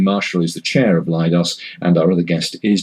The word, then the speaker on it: LIDOS: You pronounce it LIDOS? LIDOS, there we are.